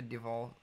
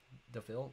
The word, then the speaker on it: DeVille: Speaking of cars, do you know what the Devil? It's spelled that way. I think it's Devil 16. DeVille, you've asked me this like 30 times.